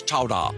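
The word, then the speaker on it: chowder: didn't get turned into New England clam chowa today pronounced regionally as chowa Chow oh that's so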